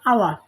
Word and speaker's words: hours: 2 ঘন্টা, অর্থাৎ 2 ঘন্টা ইংলিশ হচ্ছে হাওয়ার, অর্থাৎ হাওয়ার হবে না, উচ্চারণ হবে আওয়ার, HOURS, আওয়ার।